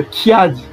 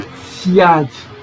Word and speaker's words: Tsiadi: Certains Congo utilisent le Kiadi avec le K. Mais c'est bien prononcé en Kituba, on dit le Tsiadi. Tsiadi. C'est bien prononcé Tsiadi.